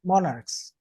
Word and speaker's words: monarchs: Monarchs. Monarchs, okay. Yeah, remember that monarchs. monarch is a noun. Nouns are Mhm. usually stressed most of the time are stressed on in the first syllable.